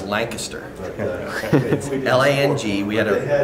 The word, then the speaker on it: Lancaster: refresher course last night for western Pennsylvania craft la ng ki SS ter lies the kiss turf you say real fast like sweet connects to the correct pronunciation or even beautiful feminine I don't get